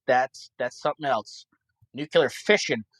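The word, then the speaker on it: fission: that's something else nuclear fishing it's spelled uh Fox TR India Sierra Sierra India Oscar November like you're fishing okay so the current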